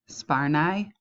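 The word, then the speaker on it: Sparnaay: It's pronounced Yalf. So his first name is pronounced Yalf and his last name is pronounced Sparnai.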